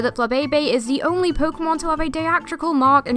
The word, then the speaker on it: Pokémon: we love so much Pokémon yes the correct pronunciation is Pokémon but we see a lot of others such